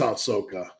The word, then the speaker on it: Ahsoka: BD I'd love to help have you seen aaka season one no is that uh I I just want to make sure I pronounce that correctly it is Ahsoka um no I haven't seen it I'll check